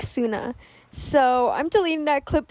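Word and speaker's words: Sunai: So I ended up looking up how to pronounce the name of the monster, and you pronounce it like Suna.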